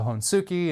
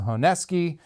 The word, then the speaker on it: Honesuki: For years, I called it a Honesuki until I was corrected that it's a Honesuki.